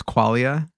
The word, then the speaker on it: Quaglia: Well, I say it with a silent G. That's how it would be pronounced in Italian, is Quaglia.